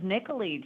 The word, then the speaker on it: Nicolee: first name It Is Nicoli just think Nicole to Italy that is so cool Nicoli with an extra E I love it all right folks uh we are on with Nicoli and we're coming back